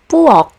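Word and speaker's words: 부엌: For example, in the word pu, which means kitchen, you don't really hear the aspiration anymore.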